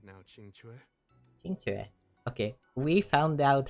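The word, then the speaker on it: Qingque: you're in the mood to play right now chingu chingu okay we found out how to pronounce her name CH even if the sky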